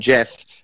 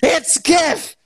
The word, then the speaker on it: GIF: pronounced gifs but it's the g stands for graphics it's not giraffix like a giraffe on the savannah jurassic park it's gif and um i would